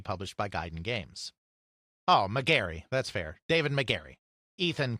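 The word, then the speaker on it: Megarry: again would be published by Guiden games oh McGary that's fair David McGary Ethan correcting the pronunciation as he often does which I appreciate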